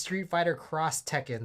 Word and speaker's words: Street Fighter X Tekken: as Street Fighter X Tekken has always pronounced Street Fighter cross Tekken so I always thought you pronounced the X the video pronounce that